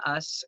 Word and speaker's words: Uss: So today we decided to do an interview with Uss, who, it's pronounced Us, right? USS Yep, Us? you got it right.